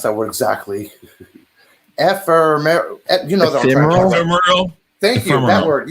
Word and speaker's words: ephemeral: I mean, if basically the word how do you pronounce that word exactly? Ephemeral.